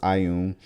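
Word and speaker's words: Ioun: Pronounced Ayun. Again, you guys are pronouncing it for me in parentheses.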